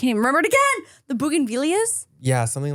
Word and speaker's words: bougainvillea: Bougainvilleas, got it. Via. That's what I said. No L. Bougainvillea. No L in the pronunciation at least.